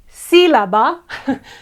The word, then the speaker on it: sílaba: word syllable in Spanish, sílaba, sílaba, has the tilde, no? In all these words, cámara, página, sílaba, because the accent is on the third one, we have to put tilde.